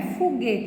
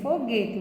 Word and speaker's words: foguete: Não é foguete, é foguete, viu, pessoal?